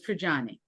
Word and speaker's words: Trigiani: So it's Trajani. Triani.